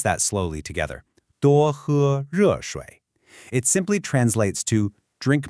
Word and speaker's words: 多喝热水: Let's pronounce that slowly together. 多喝热水.